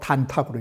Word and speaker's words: 단탁: 양은 단, 음은 탁으로 발음한 거예요. 이것이 바로 음양을 읽을, 효를 읽을 때에 특수한 용어로 단탁으로 읽는다라고 말한 것입니다.